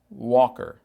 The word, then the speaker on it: Walker: mas esse l el geralmente não é pronunciado é pronunciado é pronunciado apenas o som de o então rollator Walker Walker front wheeled Walker